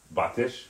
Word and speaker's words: Batish: I keep messing up on that pronunciation of your name. Batish, right?